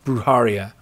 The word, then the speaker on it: Brujeria: Now, it was made into a TV show, much like Constantine, this urban fantasy, Brujeria. Thank you, Brujeria. Thank you, Lou Dude. I knew I was saying it wrong. Brujeria.